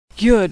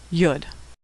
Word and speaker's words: Yud: Yud is pronounced Y as in yellow. Sometimes yud is part of the preceding vowel and is not pronounced at all.